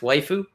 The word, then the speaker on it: Waifu: There's another VTuber by the name of Waifu, YFU. It's pronounced Waifu.